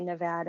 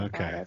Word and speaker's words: Nevada: of the world or of the United States pronounce it Appalachians, and just like Nevada, some people say Nevada and others say Okay. Nevada.